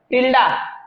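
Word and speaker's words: tilde: Similar का symbol ये है, ठीक है, ये ग्रीक लेटर है, ग्रीक लेटर टिल्डा, ठीक है, ग्रीक लेटर टिल्डा, टिल्डे जो भी प्रोनाउंस करो तुम्हारे ऊपर, ठीक है।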